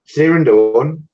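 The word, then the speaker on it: Sirindhorn: Sirindorn.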